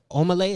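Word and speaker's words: Omah Lay: The viral video of the shorty who was getting down behind the curtain at the Omelay, is that how you say it?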